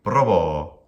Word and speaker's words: probo: It is an I am, probo. Very good, probo. Again, how would the incorrect pronunciation of this be? And I'm emphasizing that because it's very, very common for speakers of English, German, even Spanish to mispronounce iams as trochees, or occasionally a dibrach. So an iam, short and then long.